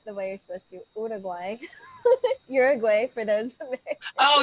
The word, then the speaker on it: Uruguay: Yeah, Uruguay, but it's like Ura, like with an, like say it like with O's instead of a U or something, Uruguay.